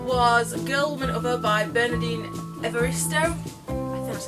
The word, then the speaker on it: Bernardine Evaristo: The second book that I bought was Girl, Woman, Other by Bernardine Evaristo. That's how you pronounce it.